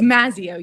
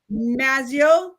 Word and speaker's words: Mazzeo: Is it Mazzeo? How do you say that? I don't even know. Yes, it's Mazzeo. You said it perfectly. Mazzeo.